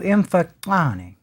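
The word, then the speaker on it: Mfecane: scholars as the so-called Mfokane. Actually, if I were to pronounce that correctly, it would be something close. I'm only going to try this once. To Mfokane. There would be a clicking sound there, and again, as is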